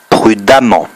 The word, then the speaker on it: prudemment: on double le m prudemment attention le eux se prononcent a donc lui répète pour